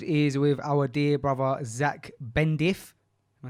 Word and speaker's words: Zak Bendif: This episode is with our dear brother, Zach Bendif.